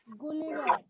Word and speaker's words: Gulliver: Okay, that is pronounced as Gulliver.